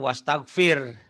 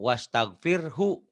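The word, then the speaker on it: واستغفره: Banyak imam-imam yang salah di kita. Sholatnya bacanya wastagfir. Padahal di situ bertasbihlah dengan menyebut nama Tuhanmu. Wastagfirhu. Dan minta ampunlah hu kepadanya, kepada Allah. Kalau hu-nya hilang berarti minta ampunnya kepada setan. Salah.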